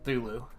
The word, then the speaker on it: Cthulhu: is a Cthulhu creature I know it's probably pronounced Zulu that's coming through a